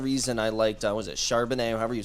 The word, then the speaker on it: Charbonnet: The same kind of reason I liked, was it Charbonnet, however you say his name? Right, Charbonnet, yeah.